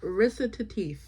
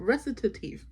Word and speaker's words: Recitatif: I opened the audiobook so I could listen to the Zadie Smith part, and apparently it's pronounced recitatif. So recitatif.